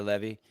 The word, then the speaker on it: Leve: I said it right, right? Yep. Amanda Levy, just like it sounds, Amanda Leva, and then you'll start seeing her matches.